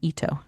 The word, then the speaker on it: Eto: ETO is how you spell it. It's an Ito.